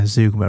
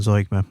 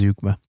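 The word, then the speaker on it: zeugma: Um yeah zugma rather than zoma. I I checked the pronunciation of that um recently cuz someone challenged me on it. I thought I better check that. So it turns out it's zugma.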